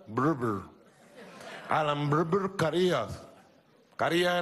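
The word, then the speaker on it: Brewer: Alan Breber Carías, se escribe Breber, pero se pronuncia Breber.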